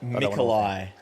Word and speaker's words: Nikolai: Nikolai is how you pronounce his first name.